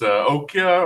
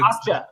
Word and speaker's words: Okja: You know, I can't remember how you say the name, but the Netflix Okja, or how do you say it? Okja.